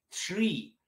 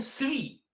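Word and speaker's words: three: Цифра, произносится тыширы, тыширы, тшри, тшри, тшри. Наши такие, да это сри.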